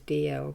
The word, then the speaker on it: Dalziel: It's actually, the pronunciation is DL, but I use it is sort of spelt Dalziel, DALZIEL.